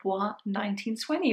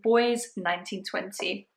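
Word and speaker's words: Bois 1920: this entire time I thought it was called B 1920 whereas now I know it's pronounced boy 1920 so that was really interesting and to be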